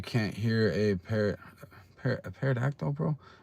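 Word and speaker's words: pterodactyl: Do you know why you can't hear a par a parodactyl bro? Because the P is silent.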